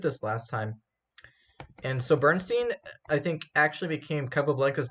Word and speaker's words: Bernstein: Oh, Bernstein. That's how you pronounce it. Bernstein, like German Stein.